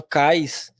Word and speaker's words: CAIS: Ela tem um grupo chamado CAIS, que é como se fala, escreve como fala, que eles também têm um grupo bastante ativo aí de resposta a incidentes.